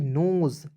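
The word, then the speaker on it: nose: उसके बाद देखेंगे एन ओ एस ई नोज। एन का न ओ से ओ की मात्रा। एस ई का उच्चारण दोस्तों ज के रूप में करेंगे।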